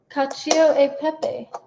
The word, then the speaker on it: cacio e pepe: Cacio e pepe.